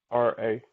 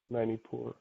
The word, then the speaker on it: Manipura: I was going to ask you, can you spell that, please? Yep. Manipura. Manipura.